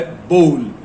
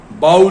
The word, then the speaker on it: bowl: अगला वर्ड जो आज हमने लिया है वो है BOWL, जिसका प्रोनाउंसिएशन है बोल, बाउल नहीं। हम क्या करते हैं, अंदाजे लगाते हैं कि OWL आउल, FOWL फाउल, तो BOWL बाउल होना ही चाहिए।